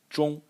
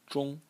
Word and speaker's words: 衷: And the last character in the series is pronounced 中. 中.